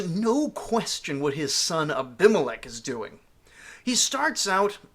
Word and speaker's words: Abimelech: life comes to be named ABI Melech usually pronounced abimelech in English a name which literally